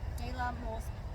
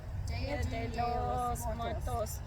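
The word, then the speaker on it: Día de los Muertos: So, Day of the Dead is pronounced De la Muertos. De la Muertos. Okay. Dia de los Muertos.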